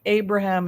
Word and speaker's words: Abraham: Avraham is the Hebrew. Ibrahim is the Islamic. Abraham is the American pronunciation.